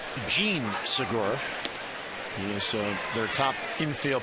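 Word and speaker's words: Jean Segura: It's actually pronounced Jean Sigura.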